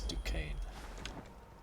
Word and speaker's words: Duquesne: to strike okay chat so we know it's pronounced decaying the one that's written to kiss me is decaying and if you catch me just pronouncing it or forgetting how it's pronounced just shouts at me in the chat it's Ducane like Michael Kane okay all right where